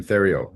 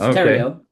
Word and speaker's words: Theriault: So uh I think I pronounced your last name Theo. Is that right? Very close. I am French Canadian. So it's terio there.